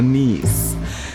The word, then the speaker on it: Nice: Leo tunasafiri moja kwa moja mpaka a very beautiful city in the southern side of France ambayo inaitwa nieise. Wengi mtaipronounce nice lakini ni.